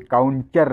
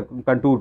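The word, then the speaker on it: contour: और डी है काउंटर, ये काउंटर नहीं है, काउंटर कंटूर क्रॉप है। ठीक है, कंटूर क्रॉप, यहाँ देख लीजिए, यहाँ ये प्रोनाउंसिएशन गलत है, तो इसका डी ऑप्शन सही होगा।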